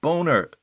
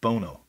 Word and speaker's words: Bono: director of the abbey will this fellow boner sorry bono be here yes harris did pronounce the youtube singer's name as bono ala sunny bono of sunny and cher there also was a